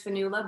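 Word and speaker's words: Fionnghuala: came up in ireland people know me as fanula but i'd say mostly in the states people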